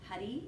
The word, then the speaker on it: Hari: Hari, it rhymes with buddy.